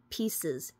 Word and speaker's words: Pises: we're going to go over P powder or pieces powder p i s e s bade powder